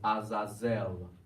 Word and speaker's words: Azazel: heavens stop right there now the way to pronounce that is Azazel where where we heard that before so we